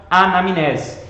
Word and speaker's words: anamnese: o termo anamnese e é assim mesmo que se escreve mn juntos tá e o som fica anamnese e aí por definição